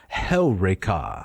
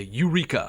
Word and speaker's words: Heureka: Although most people would say Eureka. Eureka. Right. They would put the emphasis on the penult. On the wrong syllable. That's right. Yes. It goes on Heureka.